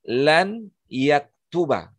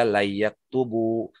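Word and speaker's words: لن يكتبَ: Jadi lan yaktuba. Dia dibaca lan yaktuba karena ada huruf nasab yang masuk sebelumnya, ada amil di situ. Maka dibaca layyaktuba. Ya, enggak boleh dibaca layyaktubu, layyaktubi, tetapi dibacanya layyaktuba. Artinya ia tidak akan menulis.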